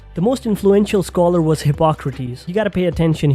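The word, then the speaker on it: Hippocrates: most influential scholar was hypocrates you got to pay attention here it's hypocrates and not hypocrite one can easily mispronounce it and go down the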